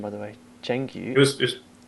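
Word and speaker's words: 成语: Zhengyu. It's close. Changyu. Changyu. Yeah.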